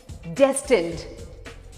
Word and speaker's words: destined: The word is DESTINED. Destined, destined, destined. The emphasis is on the first half. Destined.